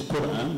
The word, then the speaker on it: Quran: It's Quran. This Qu is pronounced as Qu by Alawites and as U by most others.